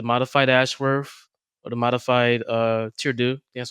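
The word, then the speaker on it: Tardieu: that be the modified Ashworth or the modified Tirdu. That's how you pronounce it.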